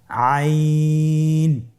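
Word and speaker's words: عين: আপনার আমার সাথে বলুন আইন। আবার বলুন আইন আইন আর হরফটি কন্ঠনালীর মধ্যখান থেকে উচ্চারিত হয়।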